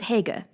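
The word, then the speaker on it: Haigha: happy his name is Hager he pronounced it so as to rhyme with mayor I love my love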